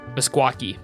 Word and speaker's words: Meskwaki: there's no Q m-e-s-k-w-a-k-i squawki m e s it's spelled like mess y like it's not even spelled how it sounds kind of like in